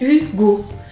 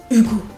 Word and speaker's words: Hugo: Alors, on pourrait dire juste Hugo, mais comme il y a un H en français, le H il est muet, on le prononce pas Hugo. Mais ça pourrait être par exemple en anglais Hugo.